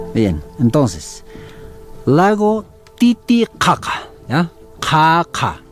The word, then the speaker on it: Titicaca: Caca, porque en lo que es el idioma aymara quechua, nosotros utilizamos lo que es las pronunciaciones ka, ka, ka. Entonces, en este caso, ka, ka, ¿ya?